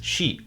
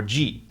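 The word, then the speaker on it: 寺: La pronunciación china para este kanji para templo es «shi» o «ji» Y cuando uno lo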